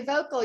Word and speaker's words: Voelkel: surname is correct uh i think there's a bit of a dutch swing to it so riley volkl am i correct that sounds good riley vocal yes and it is german